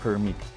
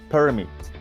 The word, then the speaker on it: permit: Ve el ejemplo en pantalla de la palabra permit. Primero, en el stress en la primera sílaba suena así, permit, y con el estrés en la segunda sílaba suena así, permit.